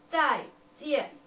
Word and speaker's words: 再见: We pronounce it 再见.